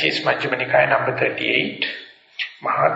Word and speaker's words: Maha: This one is called Maha, M-A-H-A, Maha, Thanha, T-H-A, no, T-A-N-A, T-A-N-A, T-A-N-H-A, T-A-N-H-A, Thanha, Sankhaya, S-A-N-K-H-Y-A, Sutta, S-U-T-T-A. And this is Majjhima Nikaya number 38, Maha Thanha Sankhaya Sutta.